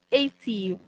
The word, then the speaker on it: Aetiv: Platform about Aetiv. I think I'm correct with the pronunciation, right? Aetiv, right?